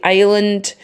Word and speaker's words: island: year okay Ireland and that S is silent and we don't say eslint we say Island and I'm sure it's